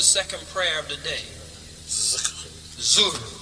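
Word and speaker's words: Dhuhr: Zuhr. But it's spelled with a D.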